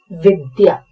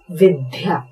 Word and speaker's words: विद्या: नाम है विद्या, अधिकतर लोग इसका उच्चारण करते हैं विद्या। वी और उसके बाद आधा द हमको चाहिए, जबकि हम ध लगा देते हैं और इसलिए स्पेलिंग बनाते हैं VIDHYA, और ये गलत हो जाएगी।